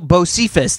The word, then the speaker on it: Bocephus: It's because he mispronounced the word Bucephalus. Oh, really? And everybody and but now people Bocephus.